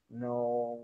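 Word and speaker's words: know: The silent letters are underlined. No, right, wrong, forward, thought, right, interesting, Wednesday, and bye.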